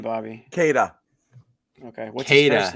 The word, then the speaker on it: Queta: Queta. Okay, what's his first name? Queta. Nemeas Queta. It's Queta, not Queta, but it's spelled Queta.